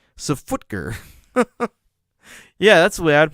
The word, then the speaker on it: SFTGR: We'd always pronounced it Safutger."